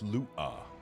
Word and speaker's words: Lua: It's pronounced lua.